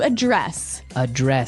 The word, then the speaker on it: address: So the verb address has the stress on the second syllable.